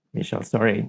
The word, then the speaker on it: Michel Sauret: good afternoon, Michel. Do I pronounce it right? You got it. Michel Sauret. I think it's a French heritage.